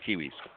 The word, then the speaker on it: Quihuis: It is pronounced kiwis, right? Yeah, that's correct. It's just like the kiwi fruit with an S.